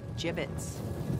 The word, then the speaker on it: Jibbitz: of here Hey look if we had some gibbets leftover jibbitz what it's pronounced jibbitz yeah are you sure